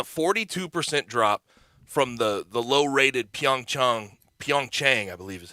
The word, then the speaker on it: Pyeongchang: But that's a 42% drop from the low-rated Pyeongchang, I believe is how you pronounce the Pyeongchang Olympics in 2018, which was the previous lowest viewership up until that point.